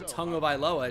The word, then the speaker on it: Tagovailoa: like origins, like Tua Tagovailoa, it's spelled tag obviously, but it's pronounced tongue.